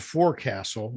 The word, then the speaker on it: forecastle: There's a word that is spelled FORECASTLE. Okay. Yep. I'd need to write that down. I'm sorry. It's spelled forecastle, but it's pronounced forecastle.